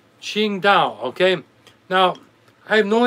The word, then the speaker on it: Qingdao: germans that started the qingdao qingdao okay now i have no idea why it's spelled this way but the correct pronunciation is ching like q i-n-g d-a-o okay that's the